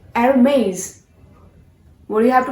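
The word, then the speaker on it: Hermès: So our next brand is Hermes. No friends, this is not Hermes. You have to pronounce this brand as Hermes. H has to be silent. Hermes.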